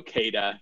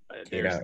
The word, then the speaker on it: Kata: Either works. We generally go Kata, but Kita, there's okay. no official pronunciation guide.